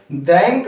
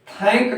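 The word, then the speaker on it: thank: तो TH का उच्चारण अक्सर हमें देखने को जो मिलता है वो क्या होता है, द। लेकिन हम जब वाक्य के आरंभ में ही ये शब्द TH आ जाता, ये अक्षर आ जाता है एक साथ TH, तो इसका उच्चारण हम यहाँ पर दैंक न करके थैंक करते हैं।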